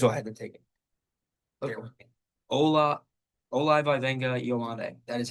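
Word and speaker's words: Olaivavega Ioane: Ola Ola Vena Yande.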